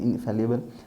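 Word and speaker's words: infallible: तो कहलाता है इनफैलिएबल, sorry इनफैलिएबल friends, the exact pronunciation of this word is इनफैलिएबल and that means वो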